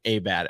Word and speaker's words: Abad: And then somebody said his name's actually pronounced Patrick Abad. And we were like, shut up.